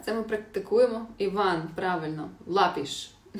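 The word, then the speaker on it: lápis: Лапіш тільки. Ну да, наголос на а треба поставити ще.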